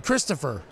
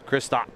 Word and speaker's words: Kristaps: What's his name? Christopher. Kristaps. Kristaps. Christopher is the English pronunciation.